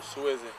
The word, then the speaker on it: SWSY: Support who supports you. We pronounce it Swizzy.